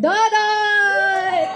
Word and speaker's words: Dodot: Vice Mayor, it rhymes with Budots. Vice Mayor Dodot!